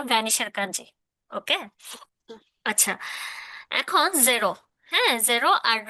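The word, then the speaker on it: ゼロ: 10 পর্যন্ত, হ্যাঁ, শূন্য বাদ দিয়ে দিই, শূন্যকে জিরো, তো এটাকে জেরো বলে। হুম। জিরোকে জাস্ট জেরো। হ্যাঁ, কারণ জি, নর্মালি জি উচ্চারণের কোনো ওরকম হিরাগানা কাতাকানা পারে না, জে, সে, জে, জেরো, হ্যাঁ, ওকে।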